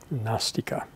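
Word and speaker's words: नास्तिक: No, it's the way we would just transliterate it is N-A-S, long A-S, because what they're saying is na-asti, it isn't. Na-asti becomes gnostica, which rhymes with nasty, but that's a coincidence.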